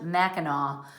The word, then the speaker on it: Mackinac: c at the end pronounced mackinaw but it has the c at the end that's indian phonetics um